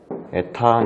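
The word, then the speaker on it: η: 방출계수는 이제 이렇게 생긴 이걸 에타라고 읽어요.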